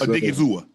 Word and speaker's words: Odighizuwa: Did I pronounce that right? Osa. Yes, Odighizuwa.